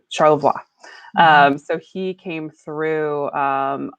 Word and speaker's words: Charlevoix: We Americanized it. It should have been Charlevoix, and named for the French Jesuit missionary. His last name was Charlevoix, so Pierre Francois de Charlevoix. Charlevoix.